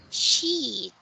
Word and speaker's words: sheet: Question question, sheet. seat, Very good. Please seat, say it with a long E sound.